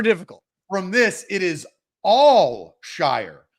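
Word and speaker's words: Al-Shaair: I have the pronunciation he's saying it's al-shair Austin how are you pronouncing his last name it's Al Shire well I will put out the phonetic spelling of what they said it I believe it is all Shire it is not Al because I've taken that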